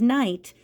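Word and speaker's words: knight: the word night-night time if you add a K in front of it it still says night but now it means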